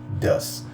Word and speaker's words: does: É assim que se pronuncia, does.